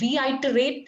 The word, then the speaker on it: reiterate: Reiterate is the correct pronunciation.